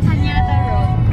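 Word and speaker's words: Cañada Road: Canada Road. Canada Road. Yeah, it was like Canada, but with the accent on the end.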